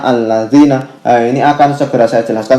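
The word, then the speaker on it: الذين: Lalu kenapa untuk contoh ini itu katanya bukan illazina tapi itu dibacanya allazina?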